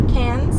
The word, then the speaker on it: Cairns: at bounce hostel and Cairns or Cannes if you pronounce it properly so I just started